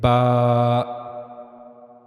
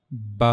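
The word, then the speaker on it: ب: Ba ba as it as it written there pronounced by the inner wet part of the lips. So inner side of the lips you have to connect the inner parts of the your of your lips.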